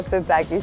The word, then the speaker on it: Sirtaki: I'm gonna ask you to pronounce it. Okay, go on. It's very simple and easy. Yeah. Syrtaki? Yeah, Syrtaki, she got it right.